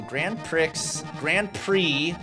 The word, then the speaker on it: Grand Prix: So Grand Prix, the X is silent, I've been told by race carologists.